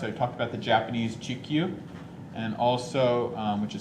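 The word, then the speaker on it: Chikyu: in this class i talked about the japanese gq and also which is spelled c-h-i-k-y-u g-q and um i also talked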